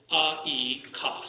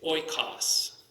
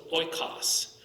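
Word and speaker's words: οἶκος: It isn't e, kos. So go back to the omicron iota. It isn't e, kos. It's oikos. You see how that works? So we pronounce it as if it's one vowel.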